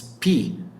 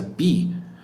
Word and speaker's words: pi: decir uno super común es pi que a veces se pronuncia bi Y eso significa agua